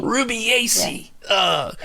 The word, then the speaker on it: Rubiaceae: Rubiaceae. I keep saying Rubica as I read it, and then I looked it up, and I didn't memorize how to pronounce it. But Rubiaceae. So, and you talked about